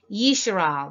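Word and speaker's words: ישראל: Yeshar'al, this is the correct way to pronounce Israel, the word Israel, and you could reference it right here.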